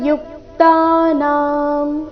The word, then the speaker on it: ಯುಕ್ತಾನಾಂ: ಎರಡು ದೀರ್ಘ ತೇಶಾಂ ಸತತ ಯುಕ್ತಾನಾಂ ಯು ಮೇಲೆ ಆಘಾತ ಯುಕ್ತಾನಾಂ ಭಜತಾಂ ಇಲ್ಲಿ ಭ